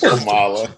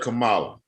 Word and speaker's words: Kamala: Just Kamala.